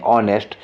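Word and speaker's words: honest: आप जानते हैं ये ऑनेस्ट लिखा है तो इसको हम प्रोनाउंसिएशन क्या करते हैं, ऑनेस्ट। तो ये आता है क्या, वॉवेल साउंड आता है, वॉवेल साउंड आएगा तो आ नहीं लगेगा, यहाँ पर क्या लगेगा, एन लगेगा, ठीक है ना।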